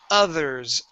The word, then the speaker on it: others: Okay, here you're using a D saying ud, others. Okay, so what you want to do, you want to stick your tongue between your teeth. Okay, this is similar to the like saying gracias, but we want to pronounce a voiced sound.